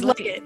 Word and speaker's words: Legat: I'm with Legat, and did I say it right? It's Legat.